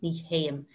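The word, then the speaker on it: ní théim: i don't go ne t sound changes to a h h sort of sound me ham nee haim and if you saw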